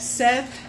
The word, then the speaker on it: Set: But um Seth, I say Seth, but Seth, whatever you want to call him, Seth. Set su if you really want to pronounce it right.